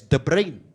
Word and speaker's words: De Bruyne: Because the surname is pronounced historically as De Brain.